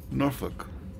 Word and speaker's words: Norfolk: will be take myself to Norfolk which is how people who've been to Norfolk actually pronounce it I think of my 22 years in the Navy I was stationed there for roughly 13.